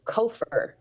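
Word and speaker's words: כֹּפֶר: or or uh sorry uh kofheer is how it's pronounced.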